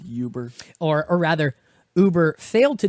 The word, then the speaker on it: Uber: Uber disclosed a couple of days ago, It's pronounced Uber.